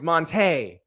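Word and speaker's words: Montee: But like Monty Ball. So I've been in this league for 3 years now, but y'all have gotten my name wrong. It's Monte.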